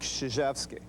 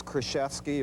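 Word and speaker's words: Krzyzewski: myself the right way i'm mike szczeczki coach knight has never pronounced my name right it's always krashevsky or when i played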